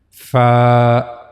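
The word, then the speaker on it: ف: The origin of this letter is edges of the upper front two teeth touches the inner side of the lower lip. This is the lower lip and these are the edges of two upper front teeths. So these two upper front teeths will touch the inner side of the lower lip. Fa fa.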